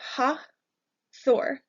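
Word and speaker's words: Hathor: we have ha Thor an easy way for me to remember this one is to think about the Avengers so you have ha Thor hath or hot war is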